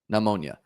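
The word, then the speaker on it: pneumonia: I don't I don't know why I always say ma. I guess I'm like pronouncing the M. Namonia.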